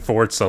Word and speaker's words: Forza: But Starfield and Forza and like mini Forzas, Forza. like you can keep saying Forza like we're building a fort. We're not. It's It's Forza.